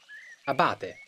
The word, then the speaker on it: abate: Perché abate ha l'accento sulla prima A, quindi è giusto abate, giusto?